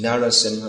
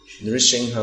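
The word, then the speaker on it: Nṛsiṃha: Although, like I say, almost everywhere in ISKCON they sing Narasimha Mahadev. Why? I don't know. But we should Nrsimha Mahadev.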